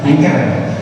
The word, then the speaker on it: Anchor: Nama aplikasinya adalah Anchor, A-N-C-H-O-R, Anchor. Yuk langsung aja kita coba aplikasinya. Kalian bisa download aplikasinya di Play Store dengan menuliskan A-N-C-H-O-R, tapi bacanya Anchor.